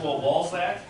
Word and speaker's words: Walzak: Walzak. Is that how you say it? Walzak? I said it correctly? Yep.